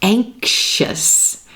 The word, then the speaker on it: anxious: This word here, anxious, anxious. This one's a little tricky because we have the letter X right before that IOUS suffix.